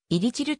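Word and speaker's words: 일이칠: 線に由来し韓国では入り汁と発音されるメンバーが固定さ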